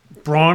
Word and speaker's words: Braun: they've got brown and Christian Braun am I pronouncing that correct no you got Bruce Brown and Christian Brown they're both Browns oh uh but they